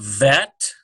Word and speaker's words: vet: We have vet. I'm actually pronouncing if they don't conclude a dagesh, then I'm going to give it the softer sound.